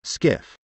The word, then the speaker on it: SCIF: 3 Capitol Hill they call it a scif pronounced skiff a sensitive compartmented information